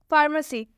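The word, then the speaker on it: pharmacy: फार्मेसी, फार्मेसी में आप देख सकते हैं इसके शुरू में पीएच आया हुआ है, और जब भी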